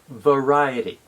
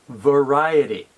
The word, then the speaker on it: variety: short uh sound the the second syllable is rye which is the same as Rye r-y-e like rye bread the third syllable is